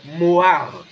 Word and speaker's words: mohar: d'abord et le mot dote en hébreu c'est Moar ça s'écrit m o H a r ce qui